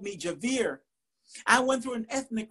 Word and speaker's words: Javier: Puerto Rican poet laureate, Javier. And to hear the first syllable stressed so dactylically transported me to a Longfellow masterpiece. The first time my chiropractor called me Javier, I went through an ethnic crisis.